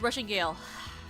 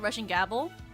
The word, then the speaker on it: Russian Gale: Guys, I just realized it says Russian Gale with an exclamation mark. I've been calling it Russian Gabble ever since I've first seen this skill.